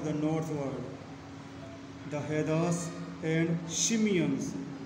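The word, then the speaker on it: Tsimshian: northward, the Hedas and Shimeons, T is silent here, children.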